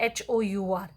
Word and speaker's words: hour: इसको ध्यान से देखिए HOUR. अब ये जो HOUR है और इसमें H is silent और O की आवाज़ दे रहा है तो O की यहाँ पर O क्या है?